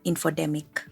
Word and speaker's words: infodemic: look at the term infodemic from the sound of the name which rightfully rhymes with the terms pandemic or epidemic an infodemic occurs when